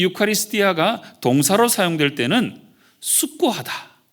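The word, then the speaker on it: εὐχαριστία: 이 감사 라고는 말을 헬라 오문 어른은 유카리 스티 아 이렇게 발음을 합니다 유카리 스 디 아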